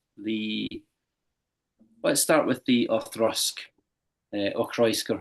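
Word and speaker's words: Auchroisk: Space Egg, but um, as far as I'm aware, it's pronounced Orusk.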